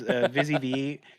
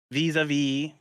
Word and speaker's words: Visiv: It goes either way. So there's Visiv, vis-a-vis, which is a play on like the vis-a-vis, by way of, or just Visiv.